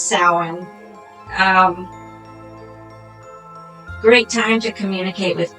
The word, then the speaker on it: Samhain: All right, so we got over the pronunciation. It is Samhain.